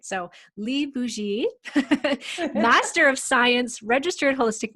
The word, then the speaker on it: Bougie: you say that uh well technically it is a french name pronounced boujee but it got anglicized